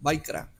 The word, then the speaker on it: Vayikra: Y vamos a la parashá que se llama Vayikra, la pronunciación, Vaikra.